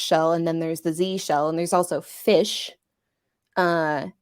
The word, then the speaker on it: zsh: I read it as jish I'm told that it is pronounced Z shell Z show yeah the sh is short for Shell which makes sense because